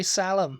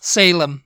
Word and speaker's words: Salem: there is there are some people who would pronounce it St Louie and the next one Salam salum I used to say salum yeah what salum yeah it's like Oh The